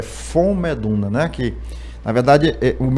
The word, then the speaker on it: Von: Como Ron Von, mas a pronúncia é fon, né? O V tem som de F, né?